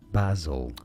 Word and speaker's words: basil: English, this is said as basil. Correct. Basil. Good. So an emphasis on that first syllable and a ba sound.